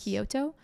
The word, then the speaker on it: Kyoto: went to Tokyo and Kyoto is that how you say it yes Kyoto we flew flew back